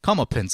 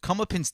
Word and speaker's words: Comeuppance: Comeuppance, I believe it's pronounced.